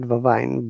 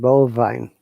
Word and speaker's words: bovine: believe volleyball volleyball then bovine is it vine or bovine let me see it sometimes i'm also confused it's better to check bovine here's bovine yes not vavine bovine bovine bovine can i